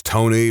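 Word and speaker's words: Toeknee: I know a guy whose name is Tony, but it is spelled Tony.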